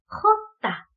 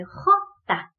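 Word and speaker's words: jota: 네, 그 다음은 지읒 소리를 히읗 소리로 바꿔야 되니까 헛다. 네, 헛다. 라고 알파벳이 있습니다. 자, 그래서 J랑은 좀 다르죠? 지읒 소리를 히읗으로 바꿔주고요. 그 다음에 거칠게 헛다. 라고 해주셔야 되고요.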